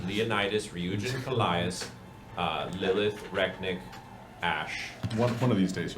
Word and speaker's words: Rek'Niht: Canonically, it's funny that Leonidas has been saying Rek'Niht's name wrong. I mean, that's just Dan. Rek'Niht? Yes. Yep, like you knit a sweater.